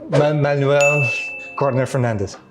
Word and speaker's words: Manuel Gardner Fernandes: My name is Manuel Gardner Fernandes from the band called Unprocessed. I'm currently in Taipei, and you're watching YSOLIFE. Hello，大家好，欢迎收看《乐手潮》这一集的节目，我是今天的主持人 John。在我旁边是一个有弹吉他应该都很熟悉的吉他手。I'm trying to pronounce the name correctly, Manuel Gardner Fernandes.